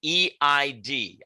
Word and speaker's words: Eid: gotcha okay um i came across a word e-i-d i don't know how you pronounce it tell me how you pronounce the